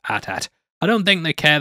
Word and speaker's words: AT-AT: Also, I know there's some back and forth on the pronunciation of whether it's AT-AT or AT-AT, with Lucas saying it's in fact pronounced AT-AT.